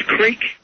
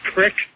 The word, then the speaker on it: creek: One is creek. I heard it pronounced crick. The other In one is, Philadelphia, we always called it crick.